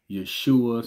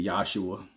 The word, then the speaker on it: Yeshua: yeah some people say Yeshua some people say yahshua yeah but um yeah